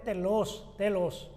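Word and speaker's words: τέλος: Ya no hay nada que se nos acuse de la ley, porque la ley terminó, llegó, en griego pues es telos, acento en la E.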